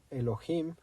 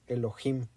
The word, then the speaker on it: Elohim: del inglés pero la la fonética es con j es Elohim Sí por eso yo